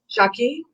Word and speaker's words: Jacqui: How do you say that? JACQUI. Jackie.